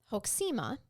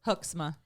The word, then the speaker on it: Hoeksema: Well, he did let Lieutenant Joel Hoeksema describe it to the court because he had reviewed. You want to know how to pronounce a good Dutch name? But how? Hoeksema.